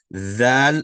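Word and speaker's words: ذال: Val is pronounced by placing the tip of your tongue. Placing pressure on the tip of your tongue by placing at the bottom edge of your top two front teeth.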